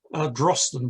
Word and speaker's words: Drosten: The constellation represent Tristan, or as I should say in the Pictish, Drosten was the way they pronounced it, would have called it.